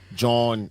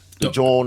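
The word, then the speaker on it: jawn: For those of y'all don't know, John is what they say in Philly. It's like um it's an alternate dialect pronunciation of joint.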